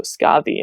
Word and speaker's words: Skadi: Her name in the medieval text is spelled Skafi. F is a letter that we no longer have in our modern English language, so it's usually spelled with a D or a DH, but it's really kind of a hard TH sound.